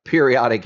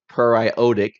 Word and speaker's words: periodic: It looks like periodic acid, but it's actually pronounced periodic acid, and I'll show you why in a second.